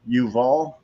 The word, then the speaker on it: Yuval: But let's get to Yuval Levin. I know Levin is how you say Levin. Yuval, I think, is how you say his first name. Yuval is correct, yes.